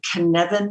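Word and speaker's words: Cynefin: when i i also think about the the kinevin model c-y-n-e-f-i-n i've never heard of that what is that yeah a k-nevin model c-y-n-e but it's not it's welsh it's pronounced canevan and i'm not a welsh expert i just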